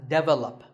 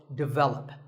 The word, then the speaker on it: develop: number 42 is develop this is pronounced wrongly by many Learners of English as develop but the first syllable is actually de and the stress is on the second syllable so develop our next word is